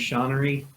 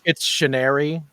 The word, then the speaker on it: Chenery: you all this time thought his last name was shaunery I did so you you never got the joke that he was no I get the joke I'm just assuming that it would be pronounced that way to like hide the joke a little more no so it's Chenery yeah stationary yeah no it's